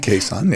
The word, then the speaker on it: Cason: Cason. Hi. Pronouncing that right? Yeah. Cason.